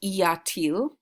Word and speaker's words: y a-t-il: The inverted form of Ilya is pronounced Iatil, and se, which you've known for a while, that inversion becomes s, is how it's pronounced.